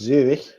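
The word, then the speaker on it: Zürich: Zurich, which in German is pronounced ever so slightly differently because it's Zurich.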